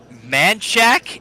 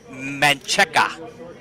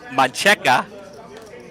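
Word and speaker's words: Manchaca: South of Austin on Manchac is how they anglicized it. But as Mr. Zamora knows, it is pronounced Mancheca. So Mancheca, it's kind of like Cesar Chavez.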